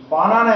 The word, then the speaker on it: bow: যেমন ধরো BOW, এটা দু রকমের উচ্চারণ হয়। একটা হচ্ছে বো, যখন বো এর মানে তখন হচ্ছে কি তীর, না বো ধনুক, তো বো অ্যারো মানে তীর, তো বো মানে ধনুক। He killed a rat with a bow, ধনুক দিয়ে একটা ইঁদুর মেরে ফেলেছিল। এই বো এর উচ্চারণ বাও বল, বাও মানে মাথা নিচু করা, bow your head, তোমার